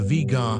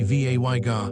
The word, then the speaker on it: Vega: Some astronomers prefer Vega, which follows the older pronunciation. Others say Vay-ga, which reflects how the letters look in modern English. Both are considered acceptable. The American Astronomical Society settled